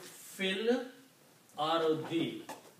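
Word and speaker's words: فِي الْأَرْضِ: And when we read these together, we will not pronounce this alif, we will say fil ardi.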